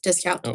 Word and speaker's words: dyscalculia: Yeah, ADD, and he has, I don't know how to pronounce the other thing that dyscalculia. Yes, dyscalculia.